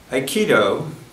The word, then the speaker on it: Aikido: his martial art practice Aikido is three syllables i means blending ki